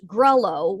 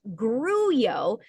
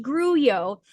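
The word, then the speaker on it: grullo: And what I thought was greo, which is actually pronounced gruo, gru l o, pronounced gruo, is a color of horses uh in the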